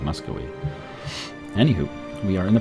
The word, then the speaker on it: Muscovy: I know it's a V, but I think it's pronounced with a W sound, Muscovy.